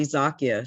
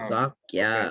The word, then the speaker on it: Zakia: It's actually Zakia, 2 syllables, Zakia.